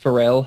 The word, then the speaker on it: Pharrell: I thought it said Farrell. Okay. It's pronounced Pharrell. Hello.